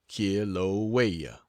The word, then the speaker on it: Kilauea: active volcano in the world, that of Kilauea, pronounced Kilauea, and from thence back to San Francisco, and then, doubtless, to the States.